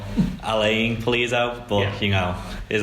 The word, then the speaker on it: Alan Pulido: Yeah, Alan Pulido. I think he pronounces it more Alain Pulido, but you know, it is how it is.